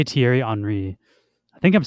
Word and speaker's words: Thierry Henry: let's see how you say his name too pronunciation how to say Thierry Henry I think I'm saying it right welcome everyone